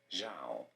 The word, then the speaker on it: Zhao: this is usually said as Zhao. Oh, I was right in the English Oh, pronunciation.